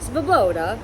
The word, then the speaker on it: Svoboda: cannabis products, the groom, Andrew Skoboda? Svoboda. I don't think. Andrew, I think the V is silent.